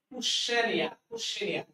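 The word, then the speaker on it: questionnaire: Spelling থেকে প্রশ্ন আসছে কুশ্চেনিয়া। এটার উচ্চারণটা হলো কুশ্চেনিয়া।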